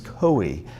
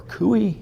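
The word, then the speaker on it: Coie: Clinton DNC law firm Perkins Chloe or cuy it's an odd name is spelled co ie in 2016 now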